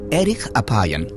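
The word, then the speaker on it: אֶרֶךְ אַפַּיִם: En hebreo, la frase lento para la ira se pronuncia Eric Apion, literalmente de larga nariz.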